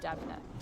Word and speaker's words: Deimne: So his name is spelled Deimne and it's pronounced Devna.